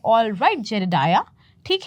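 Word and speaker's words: Jedediah: तो फिर ये कह रहा है नेम्स जेडेडाया, नेम इज़ जेडेडाया। इसका प्रोनाउंसिएशन क्या है, जेडेडाया, डाया, एच का हल्का फुल्का साउंड आ रहा है, ठीक है।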